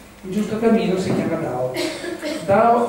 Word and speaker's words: Dao: Allora, questo Dao sarebbe una metà tra la D e la T, no? Tra la T di Domodossola e la T di Torino, una roba da via di mezzo, no?